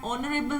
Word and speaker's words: honorable: You will say an honorable man. It seems like you are using the word O. Okay, you are pronunciating it by the help of O.